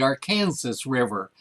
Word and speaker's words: Arkansas: hilarious because if you live in arkansas it's pronounced arkansas if you come here and look at our river we call it the arkansas river and not the arkhan arkansas river it's hard for people to grasp that this